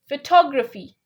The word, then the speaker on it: photography: to other sounds right photography can you say that photography photography yeah photography yeah cuz um what we do incorrectly is we say photography photography that's incorrect you have to say photography tog photography